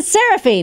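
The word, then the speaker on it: Seraphine: going to be changed now forever it's Danny serafine now did I say it right you did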